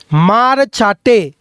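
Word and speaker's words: Hmarcha: Mizo মারচাটে। এইচ এম এ আর এইচটা silent.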